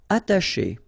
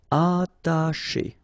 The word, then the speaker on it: attacher: Attacher, okay, you don't pronounce the double T, okay, atta, but then remember, C and H together, they will produce this SH sound, attacher, attacher.